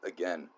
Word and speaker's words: again: Normally, I like to pronounce again as again when I'm reading because it just uh kind of sounds cooler. But here we had a had a um instance where um it actually should have been pronounced again because it rhymed with then As